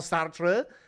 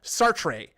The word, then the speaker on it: Sartre: Jean-Paul Sartre.